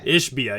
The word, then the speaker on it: Ishbia: Ishbia.